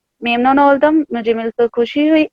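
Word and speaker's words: memnun: मेमनन ओल्दम, मुझे मिलकर खुशी हुई। अली मेमनन ओल्दम, मुझे मिलकर खुशी। बैन दे मेमनन ओल्दम, मुझे भी मिलकर खुशी हुई। जी बहुत शुक्रिया। अब यहाँ पे ममनून का लफ्ज जो है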